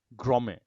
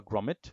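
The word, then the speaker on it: grommet: গ্রমে, গ্রমে, এটা মোস্ট টিটা উচ্চারণ হয় না, গ্রমে। গ্রমে বা গ্রমেট যেটাই বলে না কি জন্য।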